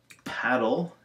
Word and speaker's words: paddle: Paddle is a short A, ladle is a long A.